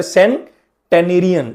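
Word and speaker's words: centenarian: अब ध्यान से प्रोनाउंसिएशन में यहां बहुत पंगा है। सेंचुरी तो आप सिंपल सी इ एन टी यू आर वाई लेते हैं। लेकिन यहां पर जो सेंटेरियन है उसके लिए आपको ध्यान रखना है कि वर्ड को कैसे बफरगेट करना है। स्पेलिंग है सी इ एन। पहले सें टेनेरियन। सेंटेनेरियन।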